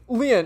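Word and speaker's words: Lien: My name Leanne is spelled L I E N.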